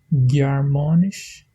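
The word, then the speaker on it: Gearmáinis: Et quand je prononce le mot germanisch, germanisch, allemand, la langue allemande, je prononce avec le son de G.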